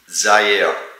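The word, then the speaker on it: Zyair: So the right pronunciation is mm-hmm. Zaire. Z-Y-A-I-R. Zaire.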